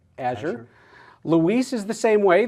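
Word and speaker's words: Azure: into court on or Siri how do i pronounce AZ you re and she'll say Asher Louise is the same way this is the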